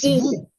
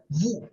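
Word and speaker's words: vous: So can you say that Paul comma tal and then uh in this case vu vu ends with s. Okay. So the s will be silent.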